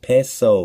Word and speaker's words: Piso: The Pisos and the Great Secret, the New Testament, the Church, and Christianity were all creations of the Calpurnius Piso, pronounced Peso family.